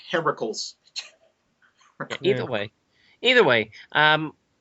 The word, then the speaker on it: Heracles: Hercules well Heracles technically the name is actually Heracles yes allly is very serious